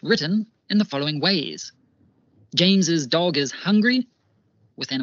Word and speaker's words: James's: My personal preference is using apostrophe S, as in the first example, because in spoken English, we add the additional syllable of is at the end, like James is.